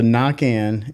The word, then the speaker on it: Naquin: So Nakin is how it would be said French. Nakin, yeah, like Nakin. So my mom or grandmother, whoever, once we moved over to Pensacola from to Alabama and all these, when we moved, they were like, people can't say it right, so we'll just say Naquin.